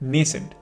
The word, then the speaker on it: nascent: इस शब्द के दो वैलिड प्रोनाउंसिएशंस हैं। एक है नेसेंट जो आपको ज़्यादा सुनने को मिलेगा, एंड दूसरा वाला जो प्रोनाउंसिएशन है वो है nascent.